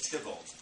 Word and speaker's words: Theobald: In the first versions, the hero, in quotation marks, the mock hero, is Lewis Tybalt, spelled Theobald, but pronounced Tybalt.